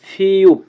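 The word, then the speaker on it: 피읖: তারপরে আছে তারপরে সংখ্যাটা আছে ফিউপ, ফিউপ কীভাবে লিখবো আমরা? জাস্ট একটা মইয়ের মতো লিখবো, ফিউপ, ফিউপ, ফিউপ, ফিউপ। এটা উচ্চারণ হবে ফ এবং প এর মতো, ফিউপ, ফিউপ।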